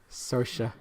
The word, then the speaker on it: Saoirse: Saoirse rhymes with inertia. Saoirse.